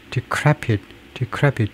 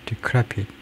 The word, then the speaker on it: decrepit: 이게 이 표시가 decrepit 두 번째 음절에 액센트가 있다는 표시인데요. decrepit.